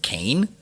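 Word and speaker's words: Kean: folklore and gossip among the local population it's pronounced cane oh this this cane University all right first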